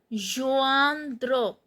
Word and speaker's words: rejoindre: Here I am pronouncing the E as a. Rejoindre.